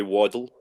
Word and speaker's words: Waddell: Or how do you say last name? That would be Waddle.